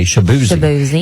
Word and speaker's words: Shaboozey: Now, his name on radio is with Shaboozey, which tells you to say Shabuzi.